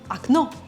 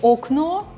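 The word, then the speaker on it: окно: eight is ac no again i hope you remember about our pronunciation rule letter the first letter or is not stressed so i'm saying it is the last one is stressed aknow you can totally say okno everybody will understand you but if you want to sound a little bit more proficient in russian please remember this pronunciation rule as it will be very handy aknow means window and an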